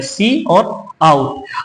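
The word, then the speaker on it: cout: का मतलब होता है इसका भी इस तरह से उसका उच्चारण होता है सी और आउट अच्छा सी आउट के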